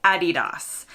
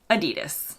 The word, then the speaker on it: Adidas: brand a sports brand in the UK typically people say Adidas but in the US we say Adidas who is Right considering